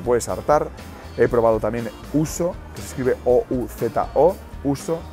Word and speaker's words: ouzo: He probado también ouzo, que se escribe O-U-Z-O.